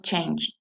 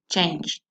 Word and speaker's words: changed: Ojo con esta pronunciación, en forma base, la pronunciación es change y en pasado changed. Es decir, que voy a pronunciar esa D como si fuera una T explosiva, changed.